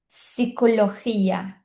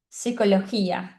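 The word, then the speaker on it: psicología: letra P é que quando a letra P está junto com a letra S, a gente não vai pronunciar a letra P. Então a gente diz psicóloga, psicologia, diferente do português, que é psicóloga, psicologia, né? Então no espanhol não tem esse P. Se escreve com P, mas a gente não pronuncia.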